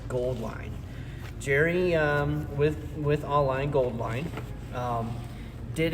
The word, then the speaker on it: Auline: Jerry with Auline Goldline did actually say that this the AU part of their logo and business name, company name, is supposed to be the periodic table symbol for gold.